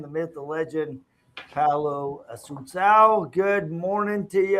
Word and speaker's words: Assuncao: to the man, the myth, the legend, Paul Assuncao. Good morning to you. How are you? Good morning. You're probably the only person in the detail industry that can say my name. So I appreciate you. Assuncao.